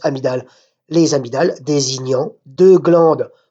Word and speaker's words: amygdale: Ça s'écrit amygdale, mais ça se prononce amygdale.